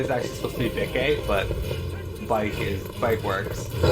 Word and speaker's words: Bikke: It's pronounced Bike. No, it's actually, it is actually supposed to be Bikke, but Bike works.